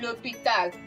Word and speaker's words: l'hôpital: have said it that when we have a silent H or a vowel coming in between, then we have it to be L apostrophe.